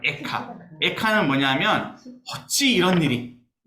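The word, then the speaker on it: איכה: 어떻게 이런 일이 일어났을까 애가는 에카입니다 정확한 발음은 에카 에카는 뭐냐면 어찌 이런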